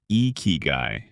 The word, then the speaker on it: Ikigai: It's called Ikigai, pronounced Ikigai. It means a reason for being, your purpose, your spark, the thing that makes you excited to live another day.